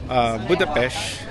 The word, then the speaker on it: Budapest: Actually sabi sa research ko, Budapesth, so they call it Budapest even though it's spelled as Budapest.